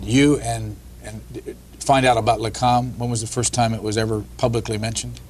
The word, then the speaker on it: Lakam: I know I'm not going to pronounce this right. Lakam? Yes, that's right. Yes. That's the Science Liaison Bureau, or the Israelis called it Lakam, which protected the nuclear secrets.